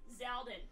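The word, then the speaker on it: Xaldin: Half the Organization 13 members start with an X and are pronounced Z. Yeah. Zemnis, Zaldin, Zigbar.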